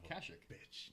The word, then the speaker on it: Kashyyyk: Kashyyyk. Kashyyyk? Yeah. Okay. I've always pronounced it Kashyyyk.